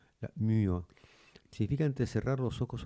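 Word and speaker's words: μύω: M y o se traduce la la y es como se pronuncia como la u francesa o como la o como la u conisis alemana, ¿no? U. La muo significa entre cerrar los ojos o la boca.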